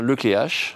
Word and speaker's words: Le Cléac'h: Apparemment, faut dire le clair. C'est vrai ou pas ? Non. Non, on dit on a tellement écorché ton nom que Oui. Puis on pose souvent la question. Donc, on dit bien le clé H.